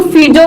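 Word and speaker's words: Fizeau: और कई बार इसको फिजो भी बोला जाता है। सही है आपका। हम क्या करते हैं कि हमारा प्रोनाउंसिएशन ही ऐसा है, इंडिया के लोगों का प्रोनाउंसिएशन ही ऐसा है, प्रोनाउंसिएशन ही हमारा ऐसा है कि हम जी को जी पढ़ लेते हैं, तो फिगो को आप फिजो भी पढ़ लेते हैं, कई बार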